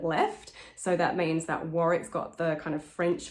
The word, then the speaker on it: Warwick: it it's quite irregular you kind of want warwick to be almost like one syllable and chancellor is